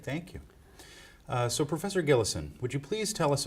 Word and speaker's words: Gillison: be interviewed for historical accuracy would you kindly pronounce and also spell your full name it's gillison and that's d a v d and then